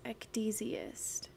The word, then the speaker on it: ecdysiast: Ecdysiast. Ecdysiast. A striptease performer. Ecdysiast. Ecdysiast. Ecdysiast. Oh, those are long E's. Ecdysiast.